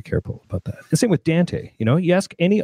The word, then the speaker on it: Dante: about that thing with Dante you know you ask any Australian owner of audinate how to pronounce it and it's Dan T so that's that's very